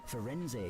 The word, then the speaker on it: Firenze: they had the Firenze explained the unicorn blood. they had someone from Italy say how pronounce the name for it, so that's what they stuck with.